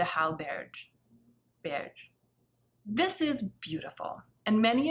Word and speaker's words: Hallberg: Angie taught me when she was here, and she taught me that the J is, or the G is pronounced like a J, but it's also kind of swallowed. So it's like Linda Hallberg.